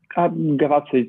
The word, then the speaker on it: Gavazzo: And today we're very lucky to have Gavazzo, or how do I say your last name? Gavazzi, it's fine. You spell it Okay, fine.